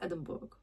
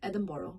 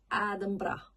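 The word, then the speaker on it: Edinburgh: In the UK, like England and the Wales, people say "Edinboro" because "burg" means "boro". But in Scotland people say that "Edinbra". "Edinbra". So it's totally different.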